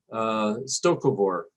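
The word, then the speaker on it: Sto-Vo-Kor: Stokovor, I believe is the way the word is pronounced in Klingon, or the Klingon idea of heaven.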